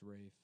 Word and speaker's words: Ralph: isn't his name Ralph it's pronounced Rafe but it's spelled like Ralph it's spelled Ralph yeah